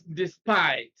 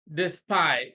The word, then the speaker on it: despite: 42 the air is despite despite stress is on the second syllable be petrol on the